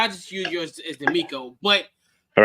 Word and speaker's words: DeMeco: Or DeMarco? D'Amico.